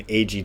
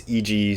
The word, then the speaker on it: Eiji: a letter yah so when I first came across the name Eiji Tsuburaya I thought he was eg Tsuburaya you know and i couldn't even do that to so a